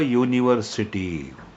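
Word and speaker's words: university: तुम्हाला विसंगती बघायला मिळते युनिव्हर्सिटी युनी असं म्हटलय साऊंड स्टार्ट विथ वाय म्हणजे ज्यावेळेस आपण युनिव्हर्सिटी स्पेलिंग बोलतो किंवा जेव्हा ध्वनी येतो युनी यु य प्रमाणे उच्चार होतो जो वाय सारखा आहे म्हणून युनिव्ह्सिटी आली अ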